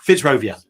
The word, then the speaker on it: Fitzrovia: even know how to say it fits robert fitzrovia yeah that's it and for more information visit